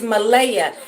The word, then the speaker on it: Malia: The little girl's name is Malaya, and it's spelled Malia.